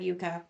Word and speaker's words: Jukka: I mean Kai, I think I said Jukka, but...